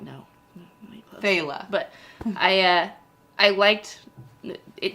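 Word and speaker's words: faoladh: yeah and it doesn't it's not pronounced like it's spelled I was going to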